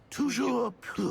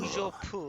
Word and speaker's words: Toujours pur: Toujours pur. Toujours pur.